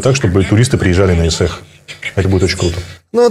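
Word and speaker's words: Ысыах: человеку «Исэх», пишется «Исаах», но говоришь «Исэх», и как бы очень легко произнести «Исэх». Очень будет круто, если вот все это сделать так, чтобы туристы приезжали на Исэх.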